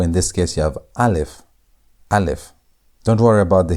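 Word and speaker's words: א: The first letter of the Hebrew alphabet is alf. Alf. And alf is not pronounced, meaning that it's silent. And there are two letters on the Hebrew alphabet that are silent, meaning they don't have sound.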